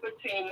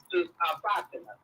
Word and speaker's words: Fatima: Oh, I'm a Muslim sister, and you can pronounce it Fatima or Fatima.